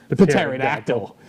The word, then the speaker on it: pterodactyl: Starfire gets a pterodactyl, but calls it a pterodactyl because she likes, you know, even though the P is silent, she likes saying pterodactyl.